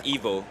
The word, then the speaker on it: Ivo: Ivo. Ivo. And it's Evo.